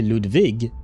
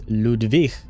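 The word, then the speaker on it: Ludwig: So his name is not actually Ludvig, it's Ludvik, right? Kind of like Enri, right? The um the dude from chapter 7, six, seven, both. Why? Six. Six. Uh chapter six, right? So it would be pronounced similarly to Hinri's name.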